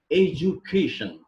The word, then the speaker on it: education: Education. We pronounce it in Indian culture, but the right pronunciation of this word is education.